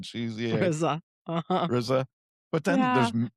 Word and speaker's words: GZA: RZA and Gizzer. It's RZA and GZA.